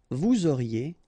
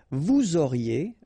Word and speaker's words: vous auriez: Vous auriez, Z at the end, et auriez, and then the liaison, vous auriez.